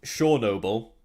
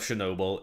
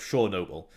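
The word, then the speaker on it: Chornobyl: no so the actual the name shaw noble is how it was originally pronounced in ukraine which is what they changed the name to so instead of heart of chernobyl it's supposed to be pronounced heart of shore noble i'm imagining they were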